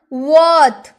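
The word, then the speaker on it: worth: अब है वर्थ। वर्थ वर्थ नहीं वर्थ र साइलेंट।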